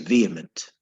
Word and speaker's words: vehement: our first word is vehement now I must tell you do not pronounce the h don't say veh even though the H is there it's silent so you say vehement okay no h is